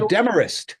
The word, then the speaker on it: Demorest: I believe the town is pronounced as a Demorest. It's a Demarest.